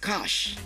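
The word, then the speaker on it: cache: I said it c a c h e of arm is pronounced cash of am.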